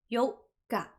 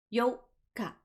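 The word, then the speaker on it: 四日: The 4th is Yoka. Yoka. There is a pause in the middle. The 8th is the exact opposite of that. We lengthen out the O sound.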